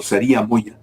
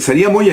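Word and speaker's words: Sariha Moya: señora Sara Moya o saria Moya la h en sía Moya en español la H no se pronuncia eh es ilegal es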